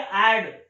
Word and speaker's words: I'd: आई apostrophe डी, और इसकी pronunciation होती है एड, एड, एड, एड।